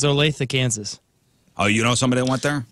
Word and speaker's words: Olathe: Kansas Olathe right went to high school it's Olathe Kansas oh you know somebody that went there